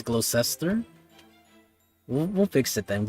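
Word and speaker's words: Gloucester: I'm not even sure how it's pronounced, so I apologize right now, but I've been mispronouncing the name for this whole time. It's Glocester.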